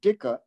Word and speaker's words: dicker: The word dicker rhymes with bicker.